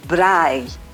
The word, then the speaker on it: braai: 南アフリカではですね、ブラーイというカルチャーがあるんですが、一体何のフードに関することなのは間違いないんですが、どんなことなのか大使に伺いたいと思います。Ambassador, we heard about the culture of braai. I don't know my Yes, pronunciation is good with perfect.